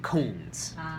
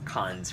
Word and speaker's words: cons: the preferred term and your pronunciation of cons sounded like Coons so just be careful with pros and cons cons rather than Coons cc's you had the